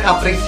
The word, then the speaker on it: Caprice: Oh ternyata pengucapannya Caprice ya. Aku salah berarti. Keren Caprice ini.